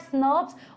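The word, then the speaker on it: snRNP: small nuclear राइबोन्यूक्लियर protein which we pronounce eight स्नर्व्स, और उनके साथ स्मॉल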